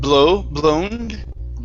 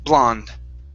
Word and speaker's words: blonde: the word blonde okay instead of blow blown it's an ah sound blonde lung okay great great